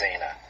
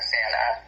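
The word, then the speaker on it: Xana: you were with and I think her name's pronounced Zana Zana yeah Zanna um I did not Nobody did.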